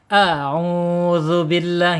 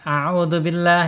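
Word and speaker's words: أعوذ بالله: Auzubillah gitu. Jangan azubillah ya.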